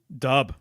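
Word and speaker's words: dubh: well linguistically it's there dub right dub means black yes exactly it's pronounced like B to V swap it's pronounced like Dove as well that's a Gaelic word or Celtic word dub right right so when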